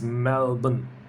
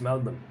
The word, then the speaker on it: Melbourne: Melbourne, number 9 is Melbourne. Let's remove the R. Now it's a bit easier to pronounce. Melbourne.